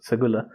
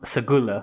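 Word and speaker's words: Seguleh: to bear arms in segura society because it's pronounced segula is oh okay yeah i splashed it wrong as well ap is wrong as well spell these things correctly well it's written a but pronounced segula yeah for some reason i am not going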